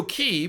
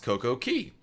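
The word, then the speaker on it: CocoCay: Why is Coco Key pronounced Coco Key? Key and not K? Because that's how the Bohemians pronounce it.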